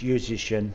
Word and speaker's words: Juszczyszyn: oh it's very simple it just rhymes with musician it's musician instead of musician so okay that's a nice easy way to remember how to say it yep musician without the m sounds a lot